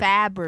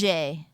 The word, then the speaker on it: Fabergé: Fabergé.